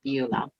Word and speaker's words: Beulah: My name is Beulah, and it's pronounced Beulah.